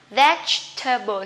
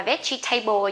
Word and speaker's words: vegetable: bạn đều đọc là vegetable nha. Veg, cái chữ GN này các bạn giật cái mỏ một cái thôi, vegetable, không đọc là table nhé.